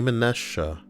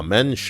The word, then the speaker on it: mensch: so used to your we're programmed when we see the word Amen or you know to say it like that but the word is of course a mensch ah a mensch a